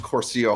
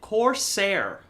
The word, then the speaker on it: Corsair: show on Friday, Frank came on and pissed Corsair hard. This dude is fucking hilarious. How do you say it wrong when I literally just said it? Corsair.